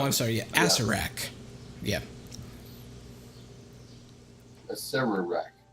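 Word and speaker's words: Acererak: A Serarak. It's pronounced Acerak.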